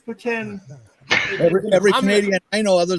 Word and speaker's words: poutine: proof that there is a god it's people mispronounce it it's not poutine it's putin every canadian i know other than you says